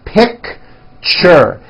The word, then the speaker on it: picture: It's 2 syllables. You pronounce it picture, picture.